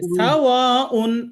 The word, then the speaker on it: سواء: গুন্নাটা খেয়াল করতে হবে, আমি একবার পড়ি দেখেন। সাওয়াউন আলাইহিম আআং, আলাইহিম আআং, হিম, এই গুন্না হবে না। আচ্ছা ঠিক সাওয়াউন তাড়াতাড়ি। সাওয়াউন আলাইহিম। জি আর একবার বলেন তো। سواء عليهم ওয়াতে চার আলিফ টানতে হবে তো।